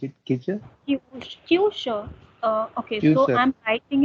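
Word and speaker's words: Küche: Ist in Kicher. How to pronounce it? Kicher? Kyusha.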